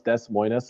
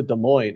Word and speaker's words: Des Moines: got nothing you know I actually thought it really was Des Moines us until I was like ten years old cuz I never heard it pronounced and then my sister was like oh yeah we're going to Des Moines I'm like what's the